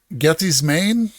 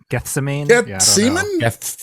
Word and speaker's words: Gethsemane: That's 6 points from us, -1, 5, 6, 7 points for Interstate 60 going to Gethy's Maine.